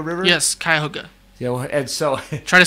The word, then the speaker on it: Cuyahoga: in the water will burn it was the Cuyahoga River oh there we go yeah okay of